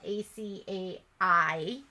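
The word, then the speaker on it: açaí: bowl and you know the first time I ever saw it I called it in a cable because it's spelled a-c-a-i and of course you know she corrected me she's like it's acai I'm like okay okay I'm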